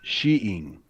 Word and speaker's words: skiing: It's funny, I saw an old 50s program on skiing, and they swore the original pronunciation of skiing was sheeing.